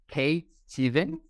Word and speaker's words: Kate Stevens: we are here today with a very good friend of mine, Kate Steven. Is that pronounced correctly?